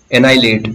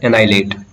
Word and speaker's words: annihilate: एनाइलेट, इट is pronounced as एनाइलेट, एनाइलेट।